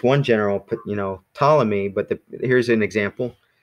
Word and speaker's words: Ptolemy: general put you know Ptolemy but the here's an example the P is actually silent so to Louis's question there so it's it's spelled in our alphabet PT o le my or now in our